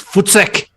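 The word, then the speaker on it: voetsek: So, African Idiot, let's just say it properly, it's Footsec.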